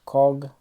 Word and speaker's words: Qugh: of seem similar and that really probably have no true pronunciation this is the codge or code class this is the coug or cog class and finally we have